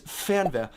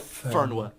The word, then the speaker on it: Fernweh: you'll see on all those like inspirational Instagram posts is Fernweh, which is basically Fernweh.